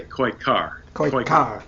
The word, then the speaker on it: Koykkar: with American composer am I pronouncing your name okay I should do more cards uh if you just say koi car so the active is there thank you thank you